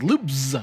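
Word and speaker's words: Loopz: okay game four is loops you gotta pronounce that z it's loops with a z and it's the third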